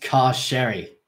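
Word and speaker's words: Carcery Vale: sign as we exed CaRu Veil carer Veil I murmur it's pronounced car Sherry derish grunts this is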